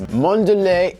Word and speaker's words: Mondelez: and now the owners of cadbury and toblerone mondelez sounds a lot more fancy than kraft foods it's like who makes this craft foods who makes this mondelez internacional and that is the correct pronunciation mandalay argued that the packaging for m